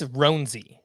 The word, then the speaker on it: Roansy: I believe it's Roansy.